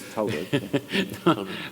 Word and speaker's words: Thalberg: At that time, he was just touring virtuoso, and it's very much possible that Thalberg, first pianist, how you pronounce this name? Well, in Germany, it's Thalberg.